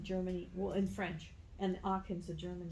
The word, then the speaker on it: Aachen: this is one that is how you where pronounce it? yeah, Aachen.